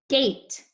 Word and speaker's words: gate: oh hey good job so this is a gate gate you can hear the a saying its name and the e is silent let's look at this